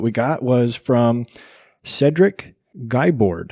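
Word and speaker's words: Guibord: got was from cedric guyboard i'm going to pronounce it guy board g-u-i-b-o-r-d he said listened and it was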